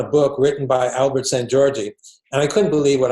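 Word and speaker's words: Szent-Györgyi: Well, Albert St. Georgi, who I mentioned, it's spelled SZENT hyphen GYORGYI. He's definitely one of my favorites.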